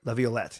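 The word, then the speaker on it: Laviolette: Leavette. Leviolet. Peter Leviolet.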